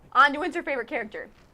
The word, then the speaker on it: Anduin: wrong like I said anduin's her favorite character how the hell do she pronounce it andwin it's anduin it's anduin I think they